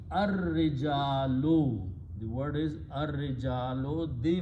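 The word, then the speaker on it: الرجال: Al will remove one dhamma, and because of the ra, shamsi letter, lam is not pronounced, but ra is pronounced twice. So it becomes ar-rijalu.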